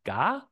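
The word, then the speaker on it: 加: This character, which in modern Mandarin is pronounced jia and means add to, in ancient times was pronounced ga in Chinese, was adapted from its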